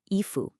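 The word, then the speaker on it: 衣服: And finally, i fu. A common mistake is letting that first tone on i drop. Keep it high and flat, i, and then go up sharply for fu.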